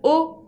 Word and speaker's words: aux: Y si no, j'ai mal au pied. J'ai mal au pied. Como los pies son en plural, tengo que usar el artículo o con la X final que no se pronuncia.